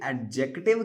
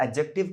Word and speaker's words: adjective: अगर आप इसे एडजेक्टिव कहते हो तो माय डियर फ्रेंड्स, कहीं ना कहीं आपसे चूक हो रही है। यहाँ भी ये डी साइलेंट माना जाता है, आपको इसको प्रोनाउंस नहीं करना है। इसे एडजेक्टिव कहा जाता है, जैसे कि यहाँ पे एडजस्ट में।